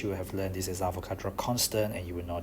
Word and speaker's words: Avogadro: So Avogadro Constant, and please do not ever pronounce it as avocado constant.